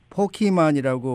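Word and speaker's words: Pokémon: 게임인이 포켓몬고 소식을 들어보겠습니다이 미국에서는 포키만이라고 발음을 해서 포켓 이런 그 티저가 들어가는 발음을 하지 않는데 아마 이제 한국에서는 그렇게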